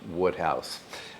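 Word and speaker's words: Wodehouse: It looks like Woodhouse, but I think it's pronounced Woodhouse.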